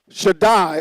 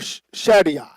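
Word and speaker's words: שַׁדַּי: This is Shaddai or Shaddai. Shaddai, Shaddai. Shaddai, Shaddai. Depends. Some people pronounce it a little different.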